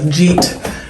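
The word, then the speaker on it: gîte: I could rent out as a jeet, as everybody's told me I mispronounced in my last video. So jeet it is.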